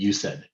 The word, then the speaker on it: UCEDD: This University Center for Excellence in Developmental Disabilities, we pronounce that acronym UCED, UCEDD.